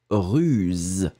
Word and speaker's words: ruse: On le fait un tout petit peu plus long, russe. Et maintenant, le raccourci russe. D'accord? Le deuxième, le B, z, ruse.